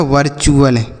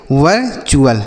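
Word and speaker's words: virtual: एल को पढ़ेंगे चुल तो यह लिखा है वर्चुअल क्या लिखा है मेरे भाई वर्चुअल समझ में आया वी आई आर को वर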